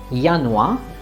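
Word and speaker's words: Januar: yest or yaka yanwa is a month again yanua in some international words yacht will be pronounced as ja as in jogen which means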